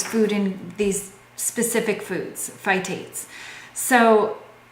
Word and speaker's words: phytates: You know, the pronunciation. Phytic acid is what's in these food in these specific foods, phytates.